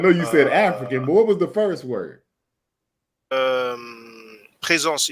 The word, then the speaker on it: Présence: Présence, it means basically presence. It's just a French way to pronounce it.